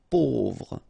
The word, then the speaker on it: pauvre: A, U together will produce this O sound. Pauvre.